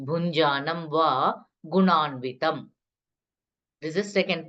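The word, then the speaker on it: भुञ्जानम्: to here first pada bhunjanam inj sound okay that is inj sound nj write it in english if you are not able to pronounce properly so nj in english bhunjanam va gunanvitam this is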